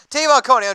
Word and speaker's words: Jadeveon Clowney: So they told me to say it like this, like Tavon Austin and Coney Island hot dog.